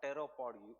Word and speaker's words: pteropod: Ooze from the animals such as crabs जिनके बहुत ज़्यादा पैर है, they will be petropod or pteropod ooze because P is silent.